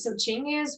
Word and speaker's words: Chingiz: am I pronouncing it Yeah. correctly? Yeah. All right, so Chingiz was, yeah, he was a complex character, but then it was only him.